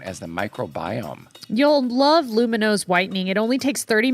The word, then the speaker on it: Lumineux: I really enjoy using Lumino because, you know, my teeth, they just look great.